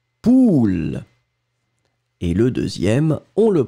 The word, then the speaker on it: poule: Le premier A, on va le prononcer très très rondement, ou, poule.